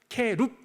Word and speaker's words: 케룹: 어 원래 발음으로는 발음으로는 케루빔 빔 그러면 복수고요. 어 케룹 그러면 단수예요. 케룹이 모여 있으면 케루빔.